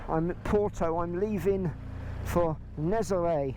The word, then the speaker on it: Nazaré: I'm leaving for Nazaré. I looked it up. That's how you say it. Nazaré.